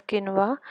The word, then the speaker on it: quinoa: Next we have is quinoa, pronounced as quinoa, has high protein content and is similar to buckwheat.